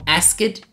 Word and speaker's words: asked: a pessoas nativas falando, você vai perceber que eles quase não pronunciam ou até mesmo não pronunciam esse ed, por exemplo, vou